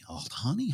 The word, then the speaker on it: Aldhani: We'll wait to see how that's mispronounced by different characters in the story. Aldhani. Aldhani?